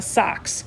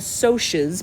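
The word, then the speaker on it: Socs: the book and say the greasers and the socks nope it's the greasers and the socials because it's it's short for socials um the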